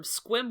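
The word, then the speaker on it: Sequim: It's also very the main character is from Squim, Washington, and so everybody who saw that movie now knows how to pronounce Squim, Washington.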